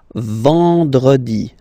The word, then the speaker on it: vendredi: Then, E-N, nasal, and it's en. En. So remember, vendredi.